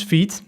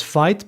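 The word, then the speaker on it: Vite: This is we're going to use feed. I in my previous videos I announced it as fight but someone me mentioned it's you pronounce it in the French way v I guess maybe I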